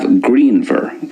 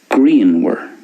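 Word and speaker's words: grianmhar: So there's more of a V sound for the Munster way, greenver, and more of a W sound at the end for the Connacht and Ulster way. So greenwer for Connacht Ulster, greenver for Munster.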